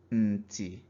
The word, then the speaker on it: nti: So here we have Nti. Nti is cheek. So we assign low tone to the N.